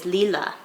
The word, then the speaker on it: Lila: pronounces it and actually the way that her family is pronouncing it is Leela and it's kind of